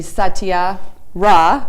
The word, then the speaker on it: Saatia Ra: 7th and we have amara satya excuse me satya rah right correct i apologize because even at the last show i said her name wrong and i don't know why i can't